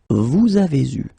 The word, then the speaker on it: vous avez eu: Then vous avez eu will become vous avez eu. Okay, so you can see that here you get the first liaison and then the second one here.